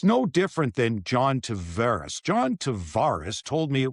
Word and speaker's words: Tavares: I went to him and asked him, and he said Tavares. Somehow he gets to Toronto, and the family's still split on it. He went to Tavares. The Islander guys will tell you, no matter what he says in Toronto, it's Tavares. So I will go back and forth on that one, and sometimes I'll kick myself in game and I'll go with Tavares because that's what it is to me, because he told me that.